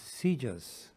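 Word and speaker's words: CJIS: criminal justice information services or CJ is pronounced seizures at the Federal Bureau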